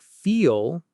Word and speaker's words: feel: Now, a word like feel, it has a dark L at the end. Feel. Here's the difference. Leaf, feel. The vowel in feel sounds deeper, longer. Feel.